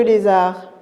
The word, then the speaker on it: lézard: pas le nezzar regarder le lézard le lézard très bien mes petits champions vous avez bien dit le mot j'ai noté la lettre d mais ça se prononce pas parce que c'est une